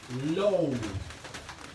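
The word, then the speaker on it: λούω: Esa palabra en griego se dice lou. Esa palabrita solamente quiere decir bañado completo. Esa palabrita. Se dice Lou. Se escribe L-O-U.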